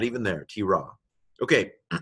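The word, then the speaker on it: תְּרָא: And so this is a tav pronounced t with a light dagesh in there, a hardening dagesh. Okay, what's that? Hirik, yod. Hirik yod, that's a long vowel that simply is pronounced T. Okay, what letter is this? Resh, Kamatz, Aleph. So this is T-Ra. Not, you've heard of a T-Rex? This is a T-Ra. Lesser-known cousin.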